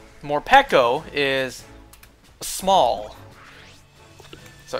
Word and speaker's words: Morpeko: and morico or I used to call it morpo it's technically pronounced morco morco is small so it's going to be a